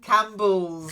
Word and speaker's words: Campbell: this mistake okay okay and then Campbells okay and it's really important because Campbell's is also a very famous soup if you know Andy Warhol the painter you'll have seen that soup the Campbell's Soup can picture so you need to drop that pee it doesn't exist okay Campbell yeah that's it that's